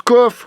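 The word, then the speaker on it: cough: Si coug, ça veut dire tousser, ça se prononce coff, comme Jean-Pierre Coff.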